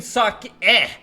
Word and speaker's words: sake: They're saying suck e like an eh sound.